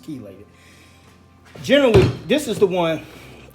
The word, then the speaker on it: chelated: however you want to pronounce it but it's pronounced chelated generally this is the one that you're gonna